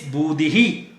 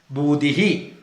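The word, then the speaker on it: बुद्धिः: It is Budhihi. That is how the two dot is to be pronounced. Very simple. Wherever E is there, Budhihi. Dhanur Dharaha. Tatra Srir Vijayo Budhihi.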